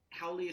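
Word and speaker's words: haole: Hennessy you first well my website is hennessy.nyc spelled like the Cognac and uh and my my social media handle is Hennessy howling how Leah spelled h-a-o-l-e and it is slang for a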